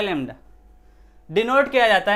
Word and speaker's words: lambda: किससे, लेमडा। ऐसे बनाते हैं, ऐसे इसको पढ़ते हैं क्या है, लेमडा, LAMBDA। ठीक है, ये बी साइलेंट है, बी साइलेंट है।